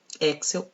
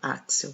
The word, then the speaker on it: Axel: Axel ou Axel, vocês pronunciam como vocês quiserem.